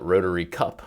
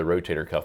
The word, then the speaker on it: rotator cuff: they know the name sometimes they mispronounce it a little bit and call it rotary cup or something like that but they've all heard of the rotator cuff but they're not exactly